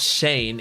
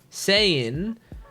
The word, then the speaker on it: Sein: It's not Shane. It's sein, but someone told me that the S names are pronounced with SH. So Shane, but that sounds like Shane, doesn't it?